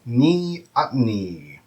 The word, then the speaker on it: neoteny: And the word is neoteny. Neoteny. That is spelled N-E-O, like Neo, T-E-N-Y. And the stress is on the ot rather than the ah.